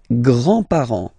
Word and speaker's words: grands-parents: with the grandparents, les grands-parents, remember you don't pronounce this final S here.